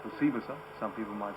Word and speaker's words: Osibisa: The group, I think it's pronounced Osibisa. Some people might say Osibisa, but I think it's called Osibisa.